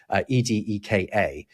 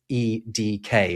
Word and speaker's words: Edeka: Although it's slightly different because which is what they're called, Edeka is phonetically the same as the letters E D K in German. E-D-K, right? So it's it's actually the initials rather than the syllables.